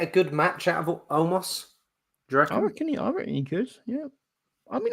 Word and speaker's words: Omos: them I could see omo homo homo it's a silent s uh Omas when I